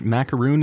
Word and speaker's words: macaroon: a r o NS macaron is the sandwich macaroon is the coconut thing okay this is a